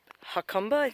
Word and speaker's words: Jacumba: ruins in this little town down here called hot khumba is how you pronounce it this town has a hot spring